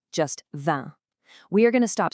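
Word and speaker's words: vingt: And that brings us to our absolute ceiling for this explainer, the number 20, which is the. The v and the t at the end, completely silent, just the.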